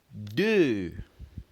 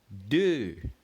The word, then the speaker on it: deux: First, we pronounce 2 as deux. Again, deux.